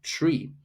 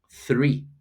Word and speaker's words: three: So the from tree, three, three, three, instead of tree, tree, tree.